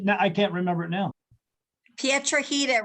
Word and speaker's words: Piedrahita: can't remember it now Pietra heater rhymes with Margarita yeah yeah but what